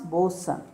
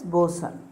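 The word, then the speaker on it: boatswain: called the master and then comes bosun the spelling is b-o-a-t-s-w-a-i-n but pronunciation is boson he's a subordinate officer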